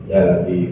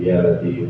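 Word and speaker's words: يا لطيف: Saya kata dia bacanya gini ya. Ya lat ya lat ya lat tukang turun yang datang bukan begitu ya. Ya lat ya lat yang benar baca itu asma Allah. Ya latif ya latif ya.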